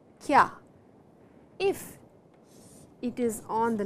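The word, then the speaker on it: きゃ: this is a small ya and it is on the line, and then only it becomes kya.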